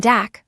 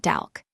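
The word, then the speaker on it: 닭: In DAC, only the G sound is heard. So, it is said DAC, not DALK.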